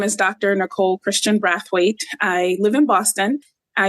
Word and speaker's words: Brathwaite: You said it, Brathwaite. Brathwaite.